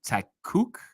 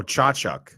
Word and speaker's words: Tkachuk: Is it Takuk? Oh, Chachuk. Chachuk. I mean, where do you get the CH out of that? How would anybody know that? You gotta hear it, dude. Brady Chachuk.